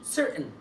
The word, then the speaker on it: certain: في الامريكان انجلش فهتبقى certain. طب ازاي عملت ازاي؟ sir ده المقطع الاولاني TAIN، التي مستبدلها بهمزه والAIN بتنطق زي ما اتفقنا حرف الان، نطق حرف الان على طول ان sir حرف الان ان.